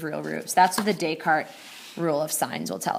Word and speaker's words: Descartes: descarte rule of signs that's a french name it is pronounced descartes um so say we've